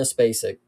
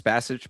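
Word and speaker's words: Spasić: I think it's Spasich, but it's the regional pronunciation. So you got to give us a little bit of leeway here with some of the ways that these letters are sounding out because they're spelled one way, they're pronounced another way.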